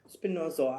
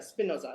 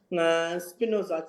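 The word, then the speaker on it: Spinoza: define the view of spinor spinoso I think am I pronouncing his word wrong expert Spa on Spinosa yes so sorry that is that Spinosa yeah got this name wrong Spinosa so it's the a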